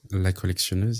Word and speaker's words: La Collectionneuse: La Collectionneuse, yes.